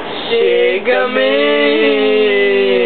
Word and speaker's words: Chic Gamine: Chic Gamine.